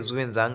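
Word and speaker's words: Xuanzang: হিভেনসান বা জুভেন জাং ইংলিশে উচ্চারণটা হচ্ছে জুয়েনজাং এক্স দিয়ে শুরু হচ্ছে তো এর রচনায় আমরা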